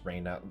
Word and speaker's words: Rena: Rena is the correct way. Or just Reina.